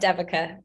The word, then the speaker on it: Devika: just a quick one my name's pronounced devica but oh I'm so